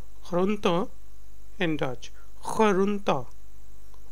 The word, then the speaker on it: groente: Vegetables are called groente in Dutch. Groente. Groente. And is silent in the end. It's not silent, it's very soft.